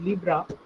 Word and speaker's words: Libre: It is seen as Libre but pronounced as Libra, which also literally means free.